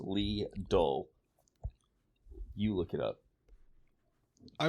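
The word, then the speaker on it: Lidl: it up right here the German supermarket chain leadle is pronounced Le you look it up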